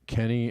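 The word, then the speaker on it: Kenney: Larry Kenny, a professor of physiology and kinesiology, that's how it's pronounced.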